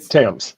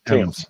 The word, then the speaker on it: Thames: Thames. It's Thames. Thames. Okay. As in the river.